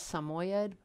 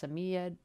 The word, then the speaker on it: Samoyed: If I'm saying it correctly, it looks like it says Samoyed, but I've heard it might be pronounced Samiyed.